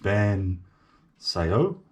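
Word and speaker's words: bánh xèo: i always say but it's ban sayo spelt a n h one word x e o i think the x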